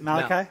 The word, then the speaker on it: Malachi: what's your name Malachi what is it Malachi Malachi Malachi yeah you say his name Malachi